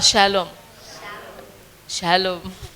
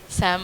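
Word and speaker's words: שלום: ಒಂದು ಸಲ ಉಚ್ಚಾರಣೆ ಮಾಡೋಣವ ಶಾಲೋಮ್ ಶಾಲೋಮ್ ಸ್ಯಾಮ್ ಅಲ್ಲ ಶಾಲೋಮ್ ಓಕೆ ಈ ದಿನದಲ್ಲೂ ಸಹ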